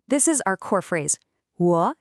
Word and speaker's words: 我: It's a third tone. A very common mistake for learners is to say it flat. A third tone has a very specific shape.